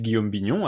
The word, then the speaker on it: Guillaume Bignon: about you yeah so uh my name is guillaume binyun as you so aptly pronounced uh yourself uh i'm french uh you